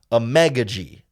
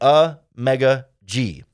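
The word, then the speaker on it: Amegadjie: tackle Kiran egga G we're working really hard on the pronunciation there a a mega G emphasis on the me more like a mega G he is definitely a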